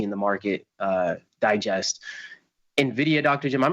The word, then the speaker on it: Nvidia: So, with uh which, by the way, remember it's pronounced Nvidia with Nvidia.